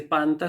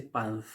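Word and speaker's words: πάνθ': Por eso no se dice panta, sino que ahí en ese caso concreto y particular se dice panth.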